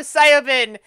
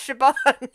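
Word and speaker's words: Siobhan: And at this I point- look at it when I'm reading it in my head and go Syobin, and I know it's pronounced Shaban.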